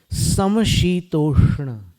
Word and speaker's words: समशीतोष्ण: वैसे एक शब्द है हिंदी में समशीतोष्ण, इसमें तीनों का उच्चारण है। सम, शी में जीभ को नीचे ले जाएंगे, यहां पर नीचे वाले दांत के पीछे। सम शी तोष्ण, ष्ण में जीभ को ऊपर वाले दांत के पीछे ले जाएंगे, समशीतोष्ण, ये उच्चारण है।